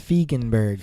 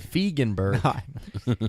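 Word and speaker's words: Feigenbaum: Pronounced Feigenberg. Feigenberg.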